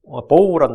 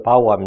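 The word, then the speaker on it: bow: 구부리셨고, 보우란 날, 레인보우 할 때 보우 있죠. 구부리다. 활 할 때도 보우죠. 이걸 이제 발음 바꿔서 바우하면 이제 attention 바우 할 때 절하다는 뜻이고요.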